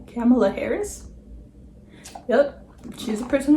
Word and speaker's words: Kamala: Kamala Harris?